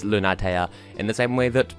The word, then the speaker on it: Lunatea: the infant a million these four syllables it is Luna taya in the same way